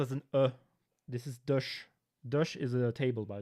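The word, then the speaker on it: Dësch: In that case, it's pronounced as an This is dush.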